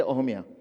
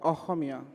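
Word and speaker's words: অসমীয়া: Aruni writes in both Assamese and English, or should I say Ohomia? What's the right way to pronounce it? Ohomia.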